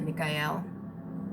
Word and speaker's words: Michael: the party archangel michael he's also you know a lot of people pronounce it mikhail and that's just old pronunciation saint michaels saint mikhail